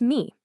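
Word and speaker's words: מי: The very first word is me, which you'd pronounce me.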